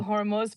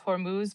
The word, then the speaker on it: Hormuz: I think the Hormuz part is the one that gets all of us though cuz everyone says Hormuz but it's Hormuz like a ooh ooh sound.